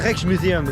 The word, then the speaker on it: Rijksmuseum: so the Rex Museum yes you pronounce it like this the Rolex Museum this